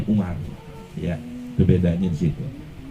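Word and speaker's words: عمر: Kalau ada wawunya di belakang ro, bacanya Amr. Kalau nggak ada wawu, bacanya Umar.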